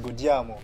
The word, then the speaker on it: Go Diamo: C'est comme ça que les Angolais prononcent Gojamo. Ils disent Godiamo.